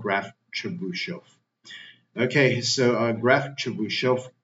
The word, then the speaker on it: Chebyshev: Pronunciation. Chebyshev. Is it called Chebyshev?